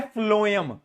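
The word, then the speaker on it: phloem: और दूसरा है फ्लोएम। फ्लोएम एफ पी पी आएगा। फ्लोएम में एफ मत लगा देना। पी एच एल ओ ई एम। ये है फ्लोएम।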